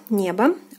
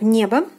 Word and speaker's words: небо: So I already explained to you the first word, the word небо, небо. O is unstressed here and is pronounced as A. So we have небо, the meaning is sky.